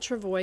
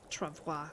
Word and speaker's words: travois: I'm calling it Travois because that's traditionally what how people would pronounce that in English, but it should be Travois, really.